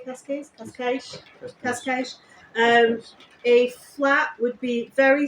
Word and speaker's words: Cascais: Cascais.